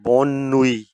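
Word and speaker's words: bonne nuit: इसका मतलब शाम बखैर और नंबर तीन पर बोनुई यह भी न्यूट्रल है।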